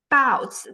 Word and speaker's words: 包子: So again, 狮子, that is, that's the first tone. 包子, that's the fourth tone.